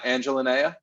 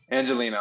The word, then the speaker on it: Angelina: your name right uh angelinea angelinea angelino angelina i'm so sorry angelina okay thank you for correcting me um so we did